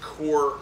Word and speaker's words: Kaur: But it's pronounced Kaur Knives.